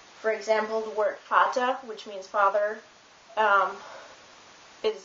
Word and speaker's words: Vater: V is normally pronounced like an F. For example, the word Vater, which means father, is spelled with a V.